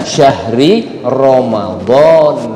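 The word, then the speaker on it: شهر رمضان: Nah, maka yang benar bacanya syahri Ramadan. Nah, kalau mau diwakafkan boleh syahri Ramadan.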